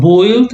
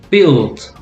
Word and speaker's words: built: Okay, the U is silent, so it's not built, it's built. And remember, AL, the sound is all, not al, all, falling.